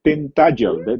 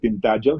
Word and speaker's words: Tintagel: So yun, pinuntahan lang namin and then we went to Tintagel. That's how they pronounce it, Tintagel, hindi Tintagel. Tintagel where you have King Arthur.